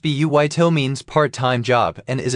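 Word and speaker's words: バイト: The Japanese word baito pronounced buito means part-time job and is adapted from which language?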